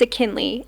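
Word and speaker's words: Akinli: so when kayin meets ainley a k i n l i it rhymes with McKinley ainley ainley ainley that's how you pronounce the name maybe I should do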